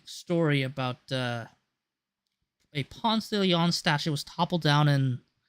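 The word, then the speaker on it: Ponce de León: Now, as you might know, Ponce de Leon, though people pronounce him in America Ponce de Leon, even though it's actually pronounced Ponce de Leon, is well known as the guy who discovered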